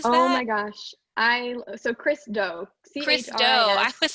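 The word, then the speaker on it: Chris Do: I know earlier in your presentation you said Christo Run the Future. What is that? Oh my gosh. So Christo. Christo. I was saying Christo. Christo. His first name Chris, last name Doe.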